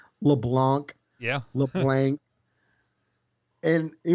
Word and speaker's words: LeBlanc: it so everybody out there that's wondering to pronounce my last name it's not la blah it's not leblanc it's not leblanc it's just leblanc leblanc that's it it's that must be like